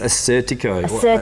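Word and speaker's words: Assyrtiko: I cannot pronounce it though. Yeah. I'll leave it to you. It's Assertico. Assertico.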